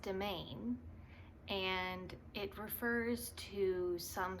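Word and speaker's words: demesne: I wasn't familiar with it and it's actually pronounced domain and it refers to some sort of like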